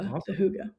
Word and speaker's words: hygge: Like, yeah, there's this concept of, I think it's called hygge, pronounced as Hygge.